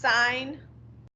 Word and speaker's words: sine: and this is pronounced sign um like fine with an s okay so don't say